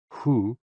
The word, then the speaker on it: hu: HOO, pronounced like hu, which is associated with the spleen.